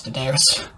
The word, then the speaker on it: Daenerys: It took me years to learn how to pronounce Daenerys.